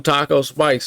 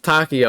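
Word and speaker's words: Takeo: to I used to call him Taco spikes and I know pretty sure it's Tako I think it's t Tako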